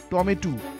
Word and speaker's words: টম্যাটো: টম্যাটোকে কিছুদিন আগেও গ্রাম দেশে বলা হতো বিলাতি বেগুন, শৈশবকালে আমরা এর উচ্চারণ করতাম টমেটু।